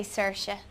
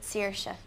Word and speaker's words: Saoirse: you can pronounce my name a few different ways I say Saoirse but a lot of Irish people would pronounce at Saoirse which is also really nice I like that too and it's Irish for freedom and or Liberty like I have an